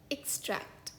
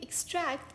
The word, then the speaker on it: extract: इस शब्द का एक उच्चारण है extract, यानी कि उखाड़ना या निकालना। For example, the dentist had to carefully extract the tooth that was causing severe pain.